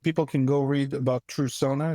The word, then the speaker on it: Trusona: can go read about true Sona it's spelled TR s o n a it's true and Persona put together and the mission we're